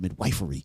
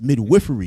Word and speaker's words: midwifery: And I said it right this time. Last time I said midwifery. It's midwifery, y'all.